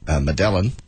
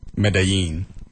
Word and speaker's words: Medellin: How did that change the pronunciation? Change the two Y's to to the L's to a Y. Try that. Medellin? You don't say the L's. Medellin? Medellin? That's pretty close.